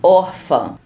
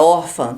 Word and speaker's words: órfã: acentuadas, como por exemplo, órfã. A palavra órfã tem 2 acentos, mas qual sílaba é mais forte? Órfã. Qual eu falei com mais força? Órfã, se for chamar alguém, é o or, é a sílaba mais